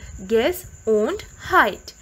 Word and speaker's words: Gesundheit: That is a funny looking word which is pronounced as Gesundheit.